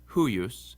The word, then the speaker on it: huius: Also, when the I is in between two other vowels later on in the word, it acts like a consonant too. So it's huius and peor.